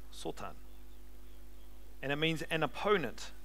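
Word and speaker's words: שטן: And the word in the Hebrew is the word Sotan, which is spelled Satan. Sotan.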